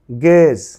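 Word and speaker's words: gauge: গেজ, গেজ। Your উচ্চারণ বলা হয় গুয়েজ হয়, কিন্তু সেটি নয়, গুয়েজ না হবে গেজ।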